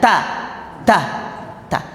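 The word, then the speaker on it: ت: yang salah dulu ya Ta itu bunyinya jadi S Nah itu keliru ta itu tidak S tapi T th Iya ta ta ta nah cara praktiknya n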